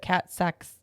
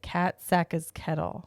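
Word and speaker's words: Kat Saka's Kettle: We got the cold brew at Cat Sacks. That's not right. How do you say it? What's it? Cat Sacca's Kettle? I think it's Cat Sacca's Kettle. Wow, I can't say it. Cat Sacca's Kettle. There you go.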